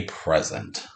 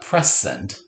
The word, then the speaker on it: present: second syllable present present with a two above that's just like in who's right it's not press send present z present present no rules in present